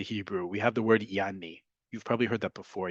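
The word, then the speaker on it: يعني: In Arabic, for example, and it's a word that's borrowed into Hebrew, we have the word yani. You've probably heard that before. Yani, or if you really pronounce the ayin, right?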